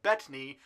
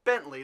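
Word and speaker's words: Bettany: Depp gwenneth paltro and Paul betney it's not Bentley like I've been pronouncing it for the past 15 years but you know what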